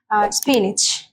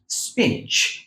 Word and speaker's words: spinach: Spinach. স্পিনিচ। বাহ, দেখেন মহসিনা কত সুন্দর করে উচ্চারণ করলো, স্পিনিচ। Spinach. আমার সাথে সাথে বলুন স্পিনিচ। Spinach. অনেকে এটাকে বলে স্পিনাচ, এটা আসলে স্পিনাচ না, স্পিনিচ।